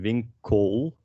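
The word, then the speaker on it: winkel: happens here so um at the start of syllable it's it sounds it's the bright l we call it so in la but at the end of words like here in vincol it's the dark l oh mysterious and the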